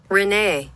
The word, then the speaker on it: Renee: Let's find out the exact pronunciation of R-E-N-E, right? French name. 瑞恩 What the fuck? Renee Renee.